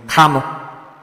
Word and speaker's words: Kanu: Some people say I call him Kalu, but that is not what I call him. I called him Kanu.